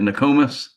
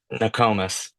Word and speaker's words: Nokomis: Is that how you say it? Nokomis? Nokomis, Not Nokomis. Hey, not Nokomis.